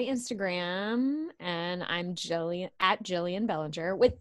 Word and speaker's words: Gillian: and I'm Joey at Jillian Bellinger with Jillian us with a G I don't spell it out Jillian with a G but it is G like giraffe or ginger um Jillian with a